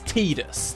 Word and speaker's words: Tidus: Thematically, this character's got like a lot to do with water, and they say that the name is supposed to resemble the word tide, so it would be Tidus to me.